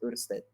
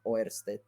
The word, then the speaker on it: Ørsted: nombre es una es es una o con los dos puntitos No es cierto es danés Entonces es esta es así es ured así se escribe pero pues esto esto pues se latif se latinica como a orst entonces pues sí le